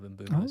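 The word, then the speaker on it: Mbeumo: Boomoo, Bumo. Remember that period where commentators used to go Buemo, or they used to have like 4 different pronunciations. Yeah. I've listened to the Premier League official pronunciation of Mbumo, so now I'm on the ball.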